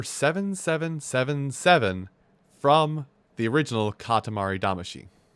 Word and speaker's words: Damacy: from the original katamari damashi i'm saying she because that's how they say it in the game it's the song that